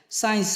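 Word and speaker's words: science: माने होता है सक एस के बाद आया हुआ सी प्राय साइलेंट होता है एस के बाद में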